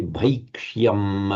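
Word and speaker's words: भैक्ष्यम्: Just one thing, this ya can tend to get lost in the bhaikshya, bhaikshya, and it's pronounced quite distinctly in the Sanskrit bhaikshya. Say bhaikshyam api haloke.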